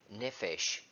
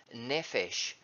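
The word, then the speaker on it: נפש: These words in English, my life, is Strong's number H5315, and it is the Hebrew word that is pronounced something like nephesh.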